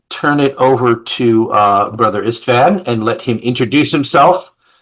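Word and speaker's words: István: Yes, as Chris said, I am just Brother Istvan Horvath. That's the correct pronunciation in my language.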